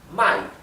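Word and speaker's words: 卖: Si ustedes cambian el tono, pueden cambiar el sentido de la palabra. Por ejemplo, fíjense esta palabra, mai significa comprar y mai significa vender. Para que vean qué importante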